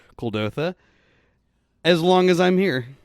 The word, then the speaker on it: Kuldotha: I say Kadoltha instead of Kuldotha. Kuldotha.